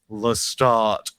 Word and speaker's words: Lestat: for the interview and much is made about pronouncing Lestat as Lestadt, which feels very silly in the mouth and is difficult for me to do. So, if I revert to Lestat, forgive me.